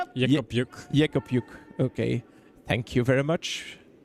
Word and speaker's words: Jück: roll behind the guards pronunciation probably like you would read in Flemish so yuk okay thank you very